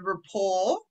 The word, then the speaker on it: rapport: t yeah yeah yeah it's a silent t so oh yeah that one yeah o-r-t yep okay yeah so the this bit here she was able to establish a good rapport yeah with with the